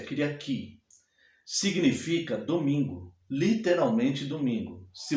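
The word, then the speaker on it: Κυριακή: Tanto no grego moderno é a mesma palavra, só que a pronúncia é um pouco diferente. É Kyriaki.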